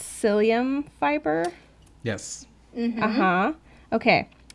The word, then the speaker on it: psyllium: But then I realized that I said it wrong, that it was psyllium and not, I think it's psyllium. Yeah, psyllium, like mycelium.